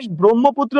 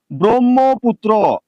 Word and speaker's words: ব্রহ্মপুত্র: লক্ষ্য করেন প্রথমে যদি শব্দের প্রথমে যদি র ফলা থাকে কি ফলা র ফলা থাকে তাহলে অবশ্যই সেটা অ থাকলে ও হয়ে যাবে অর্থাৎ এই জায়গাতে ব্রহ্মপুত্র উচ্চারণে বয়রফলা ওকার হবে।